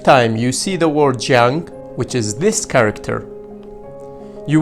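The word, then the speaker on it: 江: The first time you see the word jiang, which is this character, you will see work in the water.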